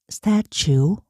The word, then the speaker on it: statue: 여기서 statu 그러면 A는 스츄 t가 트 발음이 아니라 취음이 났어요. 그리고 요는 울어놔서 스츄 치우치우 하다 보면 추우가 될 거예요. 피카츄처럼.